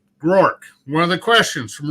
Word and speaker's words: Groark: it um you know a lot of people turn it into a two-syllable name it's rorke it's grork will say grow arc grow arc yeah um so book